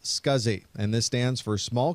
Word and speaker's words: SCSI: The abbreviation SCSI is pronounced SCSI, and this stands for Small Computer Systems Interface.